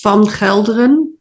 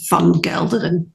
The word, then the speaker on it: Van Gelderen: Netherlands that you lived, is more of a harder G. Yeah, so my surname is Van Gelderen in Dutch. And again, I don't really use that pronunciation in the UK, so it becomes softer and it's Van Gelderen.